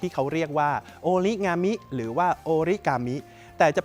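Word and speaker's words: 折り紙: อ่า เหตุ ที่ เรียก ว่า โอริกามิ เพราะ ว่า หลาย ๆ ประเทศ ไม่ มี เสียง ง งู หรือ งาม นั่น เอง แต่ จริง ๆ แล้ว ถ้า เกิด ว่า เป็น อริจินอล ที่ ประเทศ ญี่ปุ่น เนี่ย จะ ออก เสียง ว่า โอริงามิ นะ ครับ ซึ่ง โอริ ก็ แปล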